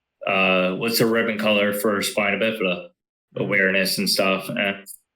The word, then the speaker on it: spina bifida: Spina bifida.